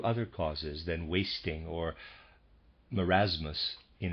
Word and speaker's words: marasmus: die beforehand through other causes than wasting or marasmus in its fullest flowering or more aptly unflattering readers aside marasmus is spelled ma are AAS mus and the readers